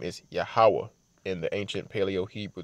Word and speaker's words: Yahawah: the W and the ha connect so it's pronounced yahawah which means he is okay he exists he's